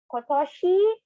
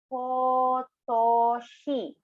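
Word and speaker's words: 今年: Kotoshi. Slowly per syllable. Kotoshi.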